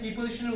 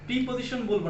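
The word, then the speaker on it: preposition: তো শিক্ষার্থী শিক্ষানুরাগী, তার মানে প্রিপজিশনের উচ্চারণটা আমরা কখনোই প্রিপজিশন বলবো না, এর উচ্চারণ হচ্ছে প্রেপজিশন।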